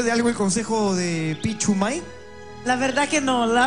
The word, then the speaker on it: Pichumay: Sí, no es Pinchumay, es Pichumay, sin N. Pichumay. Acento en May.